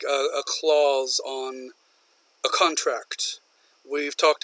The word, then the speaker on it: Claus: bag full of gifts is a clause clause or clause exact same pronunciation the answer of course